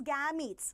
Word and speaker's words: gametes: is called fertilization clear what we will pronounce gens no this is gametes okay these are gametes yes okay very good